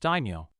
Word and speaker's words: daimyo: Sasuke stared at the word for a while before answering, "I think it's pronounced daimyo."